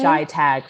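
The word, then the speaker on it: ChiTAG: So Shy Tag for short.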